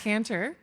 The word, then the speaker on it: Cantor: Canter? Cantor? Wow, you're starting with the tough one. It's Cantor, rhymes with banter. It's uh not too fancy, just kind of direct.